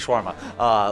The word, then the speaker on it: shawarma: Yes, that's how you say it, shawarma.